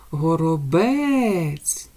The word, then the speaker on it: горобець: м'який ц двома рисочками давайте визначимо який наголошений буде склад горобець наголошений у нас третій склад так як ми його вимовили з більшою силою голосу наступний малюночок ми бачимо